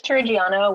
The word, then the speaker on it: Turrigiano: with from assembly assembly how are we pronouncing your name it's Triano with assembly assembly okay so too much of